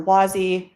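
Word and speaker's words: WASI: like the web assembly uh system interface or Wy uh is how you would hear that abbreviation pronounced in the web assembly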